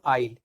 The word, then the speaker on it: aisle: ठीक है, लिखा हुआ है AISLE, लेकिन इसको पढ़ेंगे हम आइल। आइल यानी कि इसका जो प्रोनाउंसिएशन है वो है आइल।